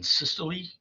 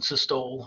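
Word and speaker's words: systole: through the body now I've heard these words pronounced wrong um it's actually diast and syy I've heard dasto and CYO I've even heard doctors say that before but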